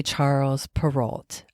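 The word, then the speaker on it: Charles Perrault: of this Frenchman's name we would say Charles peralt I think you say in French you say his name charl perau sure he wrote a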